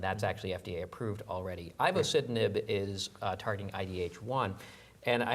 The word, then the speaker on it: ivosidenib: This is a drug, ivosidenib, if I'm saying it correctly.